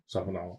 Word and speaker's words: Sauvignon: Sauvignon.